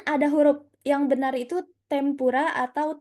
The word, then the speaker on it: tempura: Kan ada huruf yang benar itu tempura atau tenpura. Minasang, waktu pelajaran hiragana saya sudah bahas. Kalau semisal di depannya ketemu huruf P, berarti dia dibacanya M. Ya, nah, berarti dia dibacanya M.